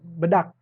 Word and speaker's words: BDAK: BDAK, ya, atau dibacanya bedak gitu, ya, bedak, ya, bedak, nggak ada E-nya, ya, bedak.